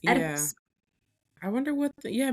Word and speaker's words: Oedipus: it's in the actual like pronunciation guide. It's EH, which is eh. It's Yeah. Oedipus.